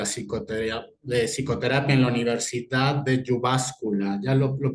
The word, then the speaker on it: Jyväskylä: emérito de la psicoterapia en la Universidad de Jyväskylä. ¿Ya lo pronuncié bien? Muy bien, Estoy Gerardo, muy mejorando. bien, sí, De Jyväskylä, Finlandia.